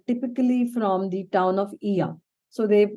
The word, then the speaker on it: Oia: from the town of EA so they they write it as oia but they pronounce it as EA and if you really